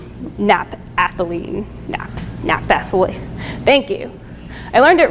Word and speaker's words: naphthalene: structured It was very similarly chemically structured to naphthalene, naphthalene.